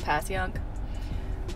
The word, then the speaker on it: Passyunk: Another one of those weird Philly words like Schuylkill or Conshohocken that we all know how to pronounce. It's just Passyunk.